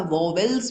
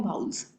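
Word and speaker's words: vowels: कभी कभी आप लोग जो हो उसे ए, ई, आई, ओ, यू, वाउल्स भी या वोवेल्स भी कह देते हो, एक्चुअल में इसके प्रोनाउंसिएशन है वाउल्स।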